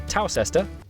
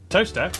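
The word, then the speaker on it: Towcester: hole mous hole next travel North up to toester toester then a quick J to Gotham wait no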